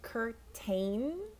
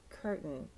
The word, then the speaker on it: curtain: one curtain okay so this one looks like Curt Kane but especially for American English which is what I'm teaching you and we kind of soften the t curtain and depending on where